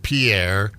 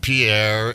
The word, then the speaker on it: Pierre: oh in Versa well that's like the capital of South Dakota no one's calling it Pierre it's spelled Pierre it is Pierre it was named after a French explorer Pierre but in South Dakota it's Pier it is Pier is it yeah don't you dare throw an extra syllable in there don't you air oh